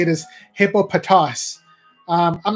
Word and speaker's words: Hippopotas: to say it is hippopotas um I'm not going to say that it's hippopus because it sounds more close to hippopotamus like the real animal I'm gonna keep calling